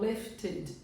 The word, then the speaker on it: lifted: Então, lifted, id. Não é ed, tá? Lifted.